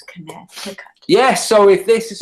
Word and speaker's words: Connecticut: Connect. It's not pronounced like that though. Whatever. It's Connecticut.